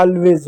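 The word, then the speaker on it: always: एस का उच्चारण यहाँ पर देखो किस रूप में किया गया है, ज के रूप में, एस का उच्चारण ज के रूप में होता है।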